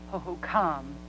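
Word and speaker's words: Hohokam: paragraphs for us starting around 1400 ad the hokam Indians is that how you say it I believe that tribe's name is pronounced hokam it doesn't matter Mark go ahead the hokam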